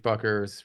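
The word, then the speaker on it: Bueckers: Paige buckers from Yukon am I pronouncing her last name correctly Paige buers buers buckers I think people CU call her people call her Paige buckets CU she's a dynamite but buers I think is correct yeah but yeah maybe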